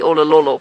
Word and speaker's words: Olololo: guess about them being or belonging to the Olololo pride. And in case you're wondering how to spell that, hold on 1 second, let me just think about it.